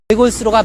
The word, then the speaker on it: 외골수로: 그래서 외골수의 경우에도 우리가 리을 시옷으로 받침이 시옷이 들어가 있는데 이 경우에도 시옷이 예사 소리가 아닌 된 소리로 우리가 뒤음절의 첫 소리를 옮겨서 발음하는 것이 맞습니다. 따라서 외골수로가 맞습니다.